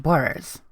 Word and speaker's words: Borers: So let's talk about the Dunwich Building in Fallout 3 and Dunwich Borers, which rhymes with Dunwich Horror, the H.P.